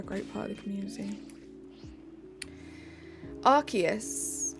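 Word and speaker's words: Arceus: part of the community archus archus I believe is the prect guys I need to end stream the correct pronunciation do it for 3K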